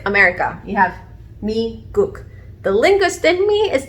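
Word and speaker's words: 미국: You have me-guk.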